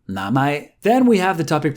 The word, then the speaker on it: 名前: 名前 sounds similar to its English translation name, 名前.